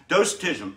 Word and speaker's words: Docetism: let's talk about it docetism actually is the pronunciation doctism early christian heresy that